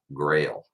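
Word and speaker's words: Grayl: these guys this is a grail geopress now spell that because it's backwards it's g-r-a-y-l grail um this thing is incredible guys it filters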